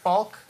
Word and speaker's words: Falk: Falk. That's rude to say people's last name wrong.